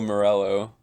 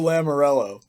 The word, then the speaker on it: Lamoriello: And obviously Lou Morello. Who? Wait, did I say it wrong? What did you say? Big Lou, sweet Lou. Lou Lamoriello.